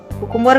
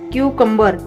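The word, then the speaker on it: cucumber: कुकुम्बर गलत है, सही क्या है? क्यूकम्बर। क्यूकम्बर ये सही है।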